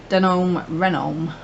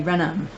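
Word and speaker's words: Reynholm: denim reno die now when i read his name it looks exactly the same so i wanted to pronounce it the same den renault but it's actually renam isn't that how you pronounce it so question one how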